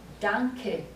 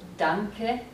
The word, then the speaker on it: danke: Now, there are no silent E's in German at the end of a word. No silent E's. So, if you have the word thank you, danke, we have to pronounce the E.